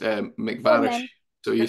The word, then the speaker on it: MacVarish: this like it's bath and bath it's um mcvarish so you say mcvarish probably all right no